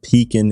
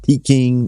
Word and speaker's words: Pekin: been doing business with pekin insurance for several years not peking not pecking as some of our customers often mispronounce it beacon insurance has a